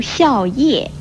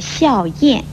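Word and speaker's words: 靥: 字的音，如笑叶不要念成了笑燕，而梦魇也不要念成了梦魇。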